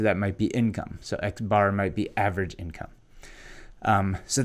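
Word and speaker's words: x̄: If you see any markings above these Latin letters, like this X with the line on top, we pronounce this X bar.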